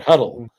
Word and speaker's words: Huddle: And so, I realize when you look at Huddle, you don't think Hu DL E, which is how you ultimately say it, huddle.